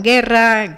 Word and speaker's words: guerra: para que suene y nosotros escribimos una u que no pronunciamos verdad como en guerra guitarra entonces llevas av y